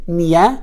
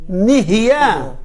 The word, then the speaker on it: נהיה: nun yud hey? Niya? Nihya. You're missing one letter.